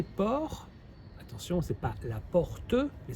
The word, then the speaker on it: port: attention c'est pas la porte mais c'est le port le port on ne prononce pas la dernière lettre c'est l'endroit où il